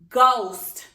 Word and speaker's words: ghost: When proving this word, remember I first marked my H is silent.